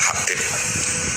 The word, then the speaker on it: Habib: Itu di harokatnya kitab itu ada yang nulis Hubab. Yang benar oh enggak, yang benar itu bacanya Habib. Habib itu As-Sulami itu ikut marga Robiah.